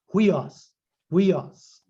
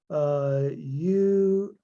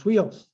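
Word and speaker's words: υἱός: like we pronounce it, huios. See, if you were to try to pronounce it without putting them together, you'd say uios. Well, but it's huios. But you never, when you're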